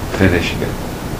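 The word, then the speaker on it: Fionnuisce: I know, and what was the pronunciation? Finishka, clear waters.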